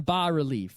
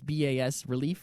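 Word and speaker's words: bas-relief: it contained this one bar relief and I'm pretty I think that's how it's pronounced a bar relief it's Bas relief right so it's basically a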